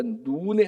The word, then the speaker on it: 눈: 여호와의 종 모세가 죽은 후에 여호와께서 모세의 수종자 눈의 아들, 그러니까 요수아의 육신의 아버지는 눈이라는 사람입니다. 그 발음을 이거 눈 이렇게 발음한 게 좀 길게 해야 돼.